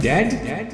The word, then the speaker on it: dead: sound like bird and dead it is said like bed and not beat for goodness sake don't call it deed watch out for the